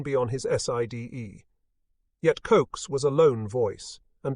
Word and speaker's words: Koch: Army, Colonel Oscar William Koch, pronounced Koch, remarked that for all